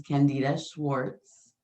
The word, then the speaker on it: Candida Schwartz: I am Amira, and I have a special guest today, Miss Candida Schwartz. Did I pronounce Hi.